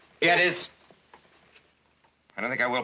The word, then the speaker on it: Gettys: is named Big Boss James Gettys, or Gettys they pronounce it. Gettys.